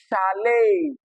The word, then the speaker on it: chalet: So although they end with e t they do not produce the short e sound like you see here. All right they possess a deep tongue instead. Okay. Because they are of French origin.